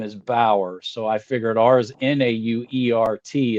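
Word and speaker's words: Bauer: another guy with b-a-u-e-r and his name is bower so I figured ours n-a-u-e-r-t is now art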